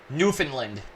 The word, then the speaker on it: Newfoundland: it new bit later Newfoundland Newfoundland is how you pronounce it oh it's in Canada